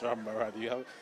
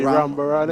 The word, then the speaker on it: Rambaran: Yes, Rambaran. You seem to master these names. I broke it up into syllables. So it will be Rambaran again.